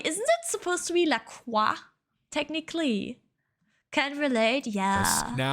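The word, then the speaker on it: LaCroix: Hate that it's pronounced Lacroy. Isn't it supposed to be Laqua?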